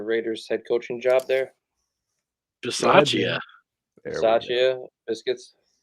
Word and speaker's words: Bisaccia: yeah, and pronounce the guy that took over for the Raiders head coaching job there. Bisaccia.